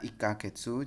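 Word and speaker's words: 一ヶ月: ikkagetsu ya mohon maaf itu menggunakan kanji ya yang seperti huruf k Katakana itu ya tapi sebenarnya itu bacanya ikkagetsu Jadi kalau satu bulan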